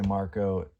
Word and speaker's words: Marko: It is Beherit Drawing Down the Moon signed by three out of the four members, which uh obviously Marko That's how you say his name.